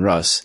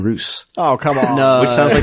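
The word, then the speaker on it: Russ: space wolf Primark that I thought was Lehman Rus was apparently lemon Roose I think you make on bake-off loose lemons Roose they they say Bruce it's really weird but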